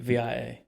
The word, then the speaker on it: Via: And it's Is it- VIA. V-I-A. Yeah. Oh, Scottish. But it's pronounced Vi.